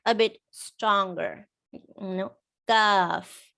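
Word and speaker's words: كاف: In English, we add a little bit of air when you pronounce a letter like K, K. But in Arabic, you should not say kaf.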